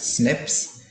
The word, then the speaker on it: SNPs: single nucleotide polymers polymorphism pronounced as snips occur in humans the